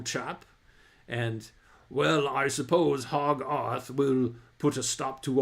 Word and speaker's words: Hogarth: C his name became Hogarth or sorry, Hogarth to rhyme with Soggarth in Sogarth Aroon.